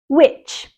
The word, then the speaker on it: witch: Witch. A witch is a woman believed to have magical powers. It also has the same pronunciation as W-H-I-C-H, witch.